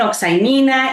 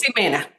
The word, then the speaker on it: Ximena: Nadie lo puede pronunciar aquí. Me dicen Oxaimina, exmina.